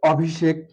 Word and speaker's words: অভিষেক: উচ্চারণটা হবে ও V shake. এখানে আছে মূর্ধস্ব, কিন্তু উচ্চারণে আমরা জানি তালবস্য লিখতে হয় যদি ছয়ের মতো উচ্চারিত না হয়।